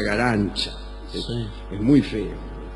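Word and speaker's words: Garanča: Se escribe Garanca, pero se pronuncia, para su desgracia, Garancha.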